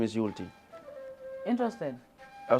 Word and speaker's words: Youlty: what's your name I said my name is yulti interesed Al y some people doesn't know how to to pronounce it a i a y so the